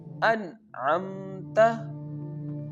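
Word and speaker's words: أَنْعَمْتَ: can pronounce this word an'amta here we have to pronounce the noon sound very clearly without taking it from nose because I already told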